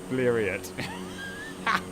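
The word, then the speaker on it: Blériot: I pronounce Blero like chariot. Bleriot.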